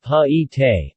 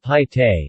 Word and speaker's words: Paete: The proper pronunciation of the town's name is believed to be Paete, but the natives call it Paete, long I, short guttural e, sound at the end.